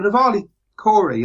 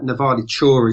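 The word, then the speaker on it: Nevalı Çori: Well, Navali Kori, I mean, the proper pronunciation, it sounds like Navali Chori, something like that, is a similar site to Gobekli Tepe, much smaller.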